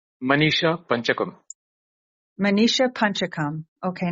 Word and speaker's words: Manisha Panchakam: the name Manisha pakum Manisha pakam okay now I didn't know the emphasis on the second h word pakam Manisha panchakam so many of us